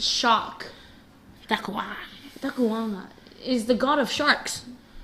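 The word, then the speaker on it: Dakuwaqa: But I can assure you that we did search this up, and it is pronounced Dakuwanga. Oh. So a lot of people think it's shark. Dakuwanga. Dakuwanga is the god of sharks.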